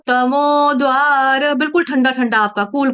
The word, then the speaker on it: तमोद्वारै: तमोद्वारै स्त्रीभिर्नरः, तमोद्वारै, यहाँ पर देखो, तमो, है ना, तमो, मैं रुक गई ना, द का उच्चारण पूरा नहीं करना है, द का उच्चारण हल्का सा करना है, टच देना है।